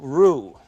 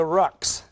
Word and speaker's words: roux: We'll make a basic roux. It's spelled R-O-U-X. In Dallas, they call it a rux, I'm afraid.